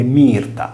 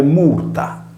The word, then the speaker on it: Myrta: Infatti un conto è dire mirta, vale a dire mirto, un altro è pronunciare murta, il primo è un latino ecclesiastico, il secondo un sardo latino.